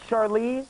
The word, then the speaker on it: Charlize: Please welcome Charlize Theron. Am I saying it right? It's Charlize?